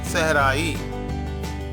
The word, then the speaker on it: صحرائی: ہم۔ اگلا ہے صحرائی، سین صاد کے نیچے زیر لگانے سے صحرائی۔ اگلا ہے مسلسل، میم